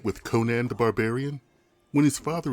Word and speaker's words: Conan: this film was made the name of the character was generally pronounced conan not conan so for this review i